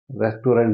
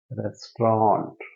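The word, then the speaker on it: restaurant: रेस्टोरेंट रेस्टोरेंट ठीक है spelling देखिए ई आएगा यहां पर ई यहां आएगा ए आर ई एस टी ए यू आर ए एन टी रेस्टोरेंट ठीक है लिखा है रेस्टोरेंट बोला जाएगा रेस्टोरेंट आगे नेक्स्ट इसको कैसे फिल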